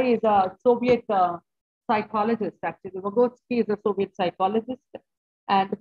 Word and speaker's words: Vygotsky: It is pronounced as Vygotsky. I have checked the pronunciation, and then it's Vygotsky.